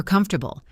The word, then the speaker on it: comfortable: For comfortable, remember the three-part word.